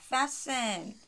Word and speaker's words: fasten: 그 다음에 동사가 나와야 하는데 자, fasten 아닙니다. T가 묵음이고요.